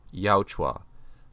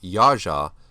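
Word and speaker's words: Yautja: for a long time yauchwa now you can also say yaja where the letter j is pronounced like a letter y and the letter t is silent there's also jajja where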